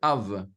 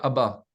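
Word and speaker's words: אב: Le premier mot dans la Bible, c'est « Av ». Pas dans la Bible, dans les dictionnaires. Dans les dictionnaires hébraïques. C'est « Av », c'est-à-dire le Père, qui va être aussi prononcé « Abba ».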